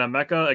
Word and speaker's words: Emeka: So, like, I had the Emeka part, and it's the same as Emeka Okafor.